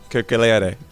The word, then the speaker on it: Keukeleire: Well, welcome Jens Keukeleire. Now, if I pronounce that correctly, Jens, do the proper pronunciation for me. Keukeleire.